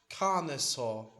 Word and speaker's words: Carnosaur: do damage to Chameleons and to Lord on Carnosaur. The fuck is this pronounced actually? Carnosaur. Carnosaur.